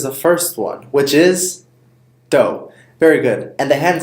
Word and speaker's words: do: higher or has a higher pitch the last syllable is the same as the first one which is doe very good and the hand sign is exactly